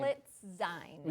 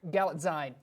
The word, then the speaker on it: Galitzine: Galitzine. Yes. Galitzine.